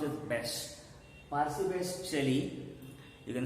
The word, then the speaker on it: Bysshe: This B-Y-S-S-H-E, the second name in his name, that is pronounced as Bysshe.